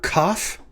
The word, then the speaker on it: kaph: this flash card series this is the letter cough it has a doge lena in it so it is pronounced like the letter k in kipper or uh why can i